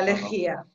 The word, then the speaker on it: lejía: La lejía. Lejía, con l'accento in la I. Ah sì, te lo pongo grande para que lo veáis. Con l'accento in la I, lejía.